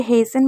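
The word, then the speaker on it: hasten: rules नहीं बोलूंगी जैसे हेसन में आप देख सकते हैं एच ए एस टी ई एन तो इसको क्या पढ़े हेसन तो सब कुछ एक ही है बस इसमें क्या है आपको टी को साइलेंट रखना एक और चीज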